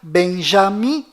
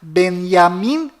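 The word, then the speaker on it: Binyamin: bom volta no assunto fora de israel o nome deste primeiro-ministro é pronunciado benjamin metaniarro mas dentro de israel o nome dele é pronunciado benyamin netanyahu confira fora dentro fora benny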